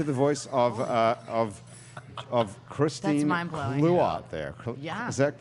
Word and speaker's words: Clouatre: Clouatre there. Yeah. Is that correct pronunciation? of your name? Clouatre. It's like Clouatre. clue plus otter without the ER.